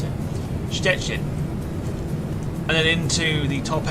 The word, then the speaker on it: Szczecin: It's so it's sh and then chet in. There you go. Szczecin. Szczecin.